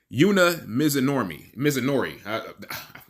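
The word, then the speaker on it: Yuna Mizumori: I butchered that lady's name. Yuna Mizunori.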